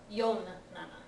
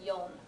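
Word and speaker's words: よん: y this isana Yana make sure you pronounce it yon not Yan okay so one more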